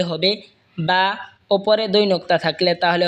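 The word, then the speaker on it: باء: বা দুই ঠোঁট হয়তো উচ্চারণ হবে বা।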